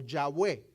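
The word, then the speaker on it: Yahweh: o el tetraga matrón con las letras y H W H comúnmente pronunciada por algunos como yahwe ese es el primer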